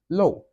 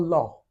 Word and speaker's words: 漏: Low. It's not law. I'm not saying law. I'm saying low.